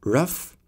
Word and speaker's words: rough: It's off as in rough, ow as in plow, oo as in through, o as in though, aw as in thought, off as in cough, up as in hiccup, ock as in lock.